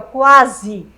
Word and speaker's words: quase: O mesmo aqui, ó. Quase. Ó, os dois sons aparecem.